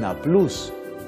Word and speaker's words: Nablus: San Justino nació en una ciudad que actualmente llamamos Nablus y que queda en los territorios palestinos. Otros pronuncian Nablus.